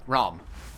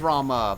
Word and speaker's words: Rama: Anyway, so, Ram. It says Rama, but it's pronounced Ram.